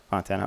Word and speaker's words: Fontana: Is it pronounced Fontana? Am I saying that right? Yeah. Fontana.